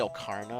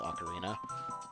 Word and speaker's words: ocarina: an adult also I'm gonna say o karna a lot that's just the way I pronounced it growing up and it's bad habit of mine I know it's ocarina I just I always say that so yeah I'm real I realize it's the incorrect pronunciation there's one more bug